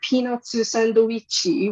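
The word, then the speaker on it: ピーナッツサンドイッチ: And so they're peanutsu sandoichi, which just sounds like I'm making fun of Japanese, but I swear that's how it's actually pronounced.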